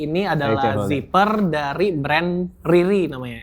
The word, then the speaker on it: Riri: Jadi, ini adalah zipper dari brand Riri namanya, R I R I.